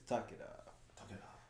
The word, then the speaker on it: Takeda: All right, as the announcer pronounces it, it's Takeda.